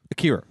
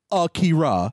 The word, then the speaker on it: Akira: It's Kira. Akira. Not Akira. It's Akira.